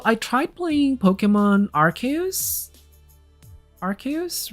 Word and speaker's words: Arceus: Arceus, right?